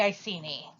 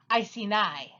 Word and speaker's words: Iceni: was queen of the icy knee well that is the popular pronunciation I see knee which is why your joke works you have your popular pronunciation but it's actually pronounced Iceni yeah I've heard that